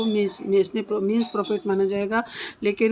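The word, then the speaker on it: mesne: तो section 2 sub clause 12 defines mains ने profit. अभी पता नहीं, मैं तो इसको मेंस प्रॉफिट बोलती हूँ, आप पता नहीं क्या बोलते हैं। मेंस ने प्रॉफिट मीन्स प्रॉफिट, इसका करेक्ट प्रोनाउंसिएशन है।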